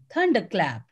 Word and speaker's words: thunderclap: clap or it is thunderclap so the correct answer is the first one thunderclap again r is silent because it is coming after a wall sound so it is thunderclap and raj kumar johan